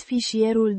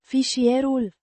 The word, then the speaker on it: Fișierul: Fișierul. Means the file or the document. It's the masculine singular definite form of Fișier. file, pronounced Fees-ee-er-ool. with the stress on the second syllable.